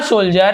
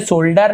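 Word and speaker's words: soldier: एंड और अ सोल्जर, इसे सोल्डर नहीं पढ़ेंगे, सोल्जर पढ़ते हैं, ठीक है। यहाँ पे इसे सोल्जर ऐसे इसका उच्चारण होता है।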